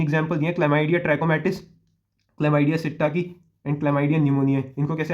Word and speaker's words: psittaci: और ये दूसरा क्या है, क्लेमाइडिया सिट्टाकी, PSITTACI। क्या स्पेलिंग है, PSITTACI, सिट्टाकी।